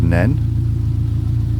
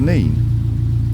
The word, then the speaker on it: Nene: What we call the river is open to debate, because Depends where you live as to whether it's the River Nen or the River Nene.